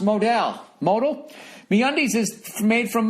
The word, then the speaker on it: modal: look good and feel fantastic note Modell is pronounced Modell modal the undies is made from modem over time